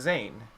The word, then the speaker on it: Zane: Well, see, so everyone in my family has always called me, right? But technically speaking, if you look it up online and if you look it up on the, wherever, the right way to say my name is Zane.